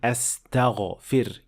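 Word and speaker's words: أستغفر: And last is mispronouncing the ghain in the first word and replacing it with kha and saying astaghfirullah, which of course should be astaghfir, using the proper ghain.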